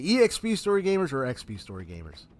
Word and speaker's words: EXPStoryGamerZ: pronounce my name sometimes I tend to just automatically pronounce it as EXP story Gamers but I've also had people say uh uh say uh XP story Gamers so uh you know